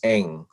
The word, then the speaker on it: Ng: it on zoom but it is the lowest of nine tones so when i try